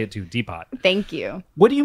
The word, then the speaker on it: Depot: Oh, it's Depot. I believe the T is silent.